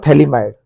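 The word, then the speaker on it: phthalimide: compound उसका नाम होगा थैली माइड थैली माइड थली माइड पी साइलेंट होगा मोस्ट इंपोर्टेंट कंपाउंड इसका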